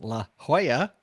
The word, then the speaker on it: La Jolla: the city of san diego california well it's la jolla which is spelled the same as but unfortunately uses an